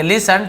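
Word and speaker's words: listen: फिर T जोड़ेंगे हम, T भी साइलेंट होता है लेकिन स्पेलिंग में T जोड़ते हैं, और ये हो गया आपका लिसन, लिसन, लिस्टन नहीं पढ़ेंगे, लिसन, T साइलेंट होता है।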